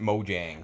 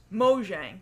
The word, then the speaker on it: Mojang: So Notch was the CEO of Mojang, or some people, I guess, pronounce it Mojang, or some people pronounce Mahjong. It's pronounce it. You know what? You know what? Mojang. Mojang. I'm gonna spell it like Mojang. It's spelled Mojang. I'm gonna pronounce it Mojang. But it's a Swedish word, which makes sense because Notch is Swedish.